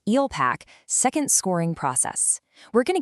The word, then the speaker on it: ELPAC: Today we're diving into the alternate EEL pack, that's pronounced Eel Packac, second scoring process.